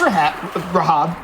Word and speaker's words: Rahab: So that's Rahab. I almost beefed his pronunciation.